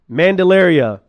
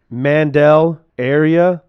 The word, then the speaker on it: Mandelaria: Mandelaria. That's my name. Get it? Mandel Area.